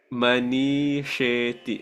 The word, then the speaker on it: मनीषेति: No, that last word you better say it properly. Manisheti.